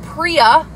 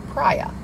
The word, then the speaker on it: Priya: And we have a very beautiful lash that is called Priya, not Priya.